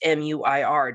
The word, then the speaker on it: Muir: There's an American broadcaster he works for, or a reporter he works for ABC News, whose last name is MUIR, just that part. And it's Muir.